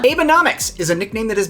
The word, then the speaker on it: Abenomics: If you read this as Abenomics and wondered what Abraham Lincoln's federal budget plan was, well, I get that. But once you pronounce it a little differently as Abenomics, and then ask yourself,